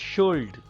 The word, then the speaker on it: should: Should. It is not should. Should. L is silent here.